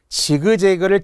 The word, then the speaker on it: 지그재그: 지그재그를 직잭이라고 하지는 않잖아요.